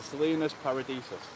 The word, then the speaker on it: Salinas Paradisus: How do you pronounce it? It's the Salinas Paradisus.